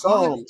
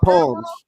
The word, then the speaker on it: Psalms: It's Psalms, not palms. But like palms, like say it one more time. That shit just brought me back. My bad. Everybody said palms. It's Psalms. Where was the P is silent?